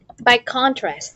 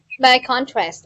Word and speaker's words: by contrast: here now too please by contrast yes stress on the first syllable please know what i'm opening by contrast or you can say